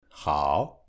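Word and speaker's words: 好: Âm “h” được phát âm giống như jota trong tiếng Tây Ban Nha: hǎo, hěn Âm “t” được phát âm như trong tiếng Anh, với một chút tiếng nổ: tā.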